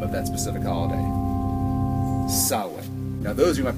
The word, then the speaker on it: Samhain: when you read it looks like it's a Sam Hayne but you're not thinking of the Irish pronunciation Gaelic which is sin it's the way the Gaelic say things I